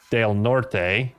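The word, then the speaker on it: Del Norte: The only RAN I used, I think, was in Del Nort, Colorado, which if it was pronounced properly with the Spanish pronunciation would be Dale Norte.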